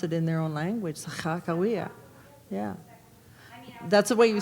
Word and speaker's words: Sakakawea: in their own language, Sakakawea. Yeah. That's the way you say it in Hidatsa, and that's, no, that's the way you say it in Hidatsa or Crow, Sakakawea.